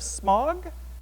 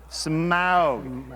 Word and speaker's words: Smaug: The Desolation of Smog. Now, pronounce it more correctly. Smaug.